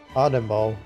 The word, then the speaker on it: Anemo: How do you pronounce it again? I forgot already. I always forget. Anemo.